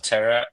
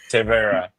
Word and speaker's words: Tevaera: what's the mission of terra sorry sorry I always pronounce it wrong terra you you got it right you know uh it's tea plus era right uh so that's that's